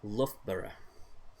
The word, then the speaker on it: Loughborough: give you a clue the l-o-u-g-h at the beginning is pronounced luff okay uh i think i'm going to go and get solar so uh the way to pronounce that word is love borough i absolutely love